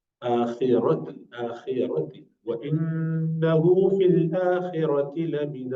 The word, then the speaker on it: الآخرة: Remember, ra would be always pronounced with full mouth, rounded mouth. if it has fatha or dhamma. آخرة آخرة وإنه في الآخرة لمن الصالحين.